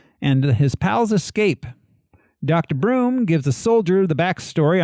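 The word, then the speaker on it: Bruttenholm: ancient monsters then a voice over by Dr brutin home not butthole pronounced broom Dr Broom he takes us back pronounced butthole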